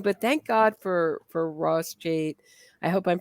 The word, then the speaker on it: Cheit: Cheit. Yeah, Cheit. Cheit. Yeah. Well, once you do pronounce something wrong, you're really, or at least I am doomed.